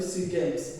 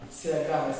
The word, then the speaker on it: SEA Games: bahasa Inggris digunakan ee cara membacanya itu se games bukan si games ya seperti itu ya